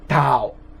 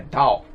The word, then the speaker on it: Tao: Veja que, na verdade, Tao não é Tao, é Tao, Tao, Tao. É uma pronúncia entre o T e o D.